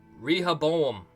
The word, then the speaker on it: Rehoboam: I started calling it Rehoboam. But I don't know. Elaine says, Rehoboam. English pronunciation. Rehoboam.